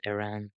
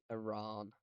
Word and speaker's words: Iran: I mean, I got corrected by my parents on how to pronounce Iran. I still say it technically wrong. It's It is Iran, Iran. It's but Iran. It's Iran. I'm Northern, so it sounds too fancy for me to say Iran.